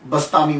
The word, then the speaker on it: Bastami: में आपका नाम जो है अबू यज़द यजीद बस्तामी मशहूर हुआ यजीद अब बा यजीद भी कहते हैं अबू यजीद बस्तामी जो है इसके प्रोसिएशन में कुछ लोग बस्तामी